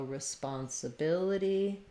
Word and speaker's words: responsibility: In responsibility, we have the stress on the bil syllable, third to last syllable. Letters RE, when they are unstressed at the start of the word, are often the I sound. So we'll see that with a little I symbol like in it.